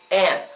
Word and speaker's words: aunt: When he was talking to Jesse about the house, he says, "Is this your aunt's house?" Aunt. Some people in America say aunt, but a lot of other people say aunt.